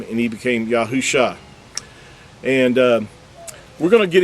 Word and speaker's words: Yahusha: Yahusha. He didn't become Yahushua. There was no UA added in this text here.